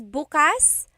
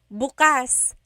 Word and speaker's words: bukas: If you say bukas, the emphasis is on the second syllable. That means open. If you say bukas, emphasis is on the first syllable. that means tomorrow.